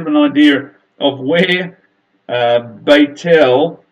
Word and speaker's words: Beit El: an idea of where Beit el which is how Bethel is correctly pronounced where it actually is